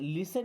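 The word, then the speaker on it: listen: ये लिसन नहीं है। टी साइलेंट है। अब इसे लिसन नहीं पढ़ना।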